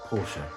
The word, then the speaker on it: Porsche: Actually, it's pronounced Porsche.